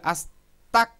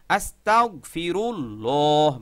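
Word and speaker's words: أستغفر الله: অনেকে বলে আস্তাক আস্তাক, তা যাইয়া কাফকে ধরছে, এরকম অনেকে উচ্চারণ করে, কিন্তু এটা ভুল। তাহলে সঠিক উচ্চারণ হলো আস্তাগফিরুল্লাহ। বলেন আস্তাগফিরুল্লাহ।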